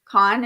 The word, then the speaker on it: Caan: James Caan is how you say his last name.